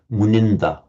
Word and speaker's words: Muninda: It would be Munindra with a long E in Sanskrit, but it's shortened because of the following consonant cluster in Pali. So Muninda, sage lord.